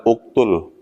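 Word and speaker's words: اُقْتُلْ: Jadi pertama dihitung huruf ketiga. Uktul 1 2 3. Huruf ketiga kan ta. Nah, ta itu harakatnya domah bunyinya u. Maka hamzah di awal dibacanya u. Berarti bacanya uktul.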